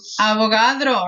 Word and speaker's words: Avogadro: number is that guys kind of rhymes with avocado do you remember his name avogadro right avogadro's number avogadro's